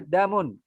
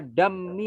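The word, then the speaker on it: دم: Ad-dami selamanya bacanya damun. Jangan dibaca dammi atau damun, jangan. Dia tetap damun.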